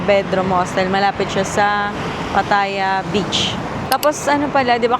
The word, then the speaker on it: Pattaya: Pataya. Pero sabi niya kanina pataya 'di ba? Pataya. Pataya. 'Yun pala yung tamang pronunciation.